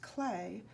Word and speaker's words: Klee: consultant for this book Paul clay pronounced clay was born near Bern